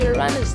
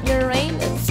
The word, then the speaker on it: Uranus: It's pronounced Uranus, not Uranus.